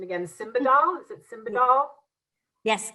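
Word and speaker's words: Simbadol: about um okay we're going to test my pronunciation again simba doll is it simba doll yes correct i can do buprenorphine but i'm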